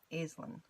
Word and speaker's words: Aislynn: I'm pronouncing that right it's AI s L Y and n but it's like a z' like the baseball team Aislin as what it looked like I'm horrible with names